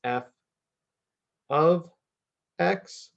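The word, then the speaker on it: f(x): in function notation or F parentheses x but that's not how we say that that is pronounced or how we say it in math is it's f of x so if you see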